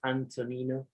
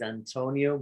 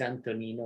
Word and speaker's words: Antonino: actually my name is my first name is antonino but you know too long and complicated to be pronounced in the us uh always mispronounced as antonio many many many many times it's antonino which you know it's a name from the